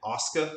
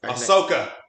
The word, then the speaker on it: Ahsoka: And I always want to say her name Asuka, like that Asian WWF wrestler. The AEW one, or I think is her name Asuka? I think I know who you're talking about, but Ahsoka.